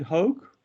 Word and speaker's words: Hoke: names of others, but Mr. Hoke, Hoke? Yes, sir. Was that correct, first of all? That is correct, sir.